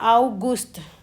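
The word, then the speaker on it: August: आ अगस्त को कहते हैं आउगस्त। हम इंग्लिश में कहते हैं अगस्त।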